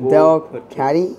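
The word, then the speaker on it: Delcatty: that tackle and double stomp here try to pronounce that we got dell caddy is how you say it captivating tail and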